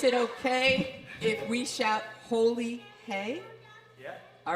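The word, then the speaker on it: Holi Hai: People chant, Holi High, which is pronounced Holi Hey, and that it means it's holy.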